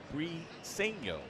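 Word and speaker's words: Briceño: Brieno doing the catching. So, we were talking about that yesterday. Pregame. Bri is in cheese. Seeno. But then I heard an Angels announcer say it wrong or not like that.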